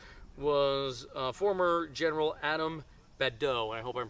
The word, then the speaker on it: Badeau: advantage of Grant was a former General Adam badeau I hope I'm pronouncing his name right b-a-d-e-a-u um he basically